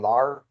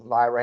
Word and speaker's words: Lyra: I'm not mad that they put the title on Lara, or how you pronounce him again? Lyra.